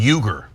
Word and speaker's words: Uygur: Cenk, this is pronounced like a J, Cenk, and then Uygur, Cenk Uygur.